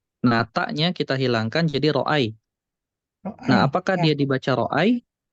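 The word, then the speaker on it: رأى: Tapi cara bacanya juga bukan ro'aya, tapi ro'a. Panjang.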